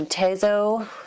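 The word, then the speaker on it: Tazo: And then I also found some Tezo, that's how you say it, tea, which is pumpkin spice chai.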